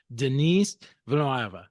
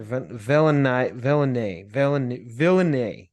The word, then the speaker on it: Denis Villeneuve: But my understanding is it's Denis Villeneuve. All right, Denis Villeneuve, or Villeneuve. I hope I said it right. I don't know. Well, anyway, we're just going to call him... He's a French-Canadian, so just do your best.